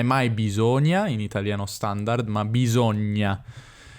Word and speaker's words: bisogna: sud saprete già che al nord noi diciamo bisogna ovvero la s tra due vocali è una mentre al sud è una bisogna anche se qualcuno non